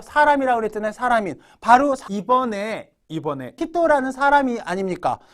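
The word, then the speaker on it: 人: 이거 히토라고 읽어주셔야 돼요. 물론 인자에 한국인 할 때는 음으로 읽을 때 징으로도 읽죠. 그죠? 징으로도 읽잖아요. 한국인. 일본인, 니혼징으로도 읽고. 그 다음에 4명, 5명 할 때 요닝, 고닝 할 때도 닝으로도 읽죠? 요건 음으로 읽는 거죠. 하지만 사람이라고 할 때는 요거 한자 나왔을 때는 히토라고 읽어주셔야 됩니다. 히토.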